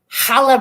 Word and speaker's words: challah: I know it's Hanukkah, but is the C, do you pronounce the CH in the challah bread? It's challah, challah, like that.